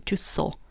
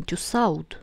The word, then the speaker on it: Tussaud: Вот это Тюссо, да, не читается во французском, а вот это читается как О, получается Тюссо. Не Тюссауд, да, Тюссоз.